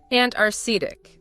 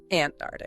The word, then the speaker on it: Antarctic: You need to hear that k sound after the first t. Antaric, not antarctic.